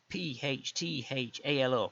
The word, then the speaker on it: Phthalo: PHTHALO.